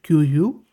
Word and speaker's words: QwQ: And not only that, but interesting bit is that you can pronounce this QwQ as QU, and just like you pronounce quill.